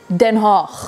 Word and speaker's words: Den Haag: Den Haag.